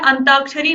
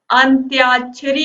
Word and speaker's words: अंत्याक्षरी: देखिए यहां पर अंत्याक्षरी आप जब शुद्ध उच्चारण करेंगे तो आप लिखेंगे भी तो क्या होता है अंताक्षरी नहीं होता अंतर चोरी नहीं होता आंत आश्चर्य भी नहीं होता क्या होता है अंत्याक्षरी होता है ठीक है तो यहां